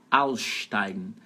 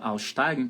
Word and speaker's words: aussteigen: Am nächsten Halt muss ich aussteigen. Esses dois S's aí da palavra aussteigen pode juntar e ficam tipo um carioquês assim, tipo um X. Aussteigen. Aussteigen. Sílaba tônica é a primeira.